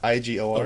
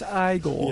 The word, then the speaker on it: Igor: Yeah, IGOR. Okay. Yeah. just making sure that, Pronounced Igor. Yes. It's pronounced Igor.